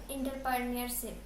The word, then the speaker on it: entrepreneurship: Near আলাদা, তারপরে Entrepreneurship.